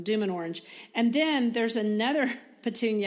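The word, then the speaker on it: Dümmen Orange: of it right now is it drumman orange is that right d orange I said it wrong D and orange and then there's another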